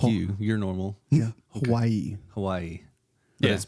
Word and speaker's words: Hawaii: correct yeah in Hawaii in the Hawaiian language W is pronounced with a V like that hav like